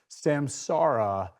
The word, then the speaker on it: Samsara: I finally realized you have to say it like a pirate. It's Samsara. Ar. It's the R.